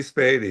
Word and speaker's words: Spady: Is it Spady? Is that how that's pronounced? Yeah, Matthew Spady.